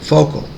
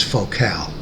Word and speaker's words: Focal: focal is a french speaker company and in america we are likely to pronounce it focal as in a lens focal length but the french pronunciation is focal i did not use height channels for listening